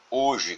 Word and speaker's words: hoje: Porque a letra H da palavra hoje não é pronunciada, o que significa que esse fonema não existe.